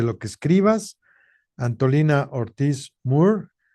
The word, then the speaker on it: Moore: Anolina Ortiz Moore como como Da Moore y como Roger Moore, sí, así es el apellido. Ortismura, así se pronuncia.